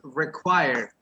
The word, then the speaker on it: require: All the activities require. Require. Require. Let me write it here in the chat. Yes, you write it like requiere, right? Requiere, but you pronounce like requiere, require.